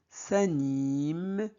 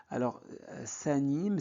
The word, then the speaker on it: s'animent: Donc, dans notre quartier, les rues s'animent. S'anime, c'est un verbe. Donc, dans les verbes au pluriel, la terminaison ENT ne se prononce jamais.